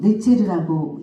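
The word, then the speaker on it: נצר: 이 가지, 이새의 줄기에서 한 싹이 나면 이때 뿌리에 한 가지가 나서 이 가지가 이 발음이 네체르라는 뜻인데요. 네체르라고 읽는데요. 이 네체르와 이 나사렛의 발음이 그 시대에 원어로 들어가면 유사했다고 합니다.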